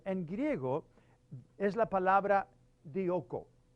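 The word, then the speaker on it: διώκω: muy interesante también en griego es la palabra dioco dioco se pronuncia o se deletrea de i o K o dioco esa palabra significa perseguir Ah significa casar como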